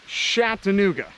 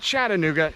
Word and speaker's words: Chattanooga: yeah, she pronounces it Chattanooga, not Chattanooga, Chattanooga.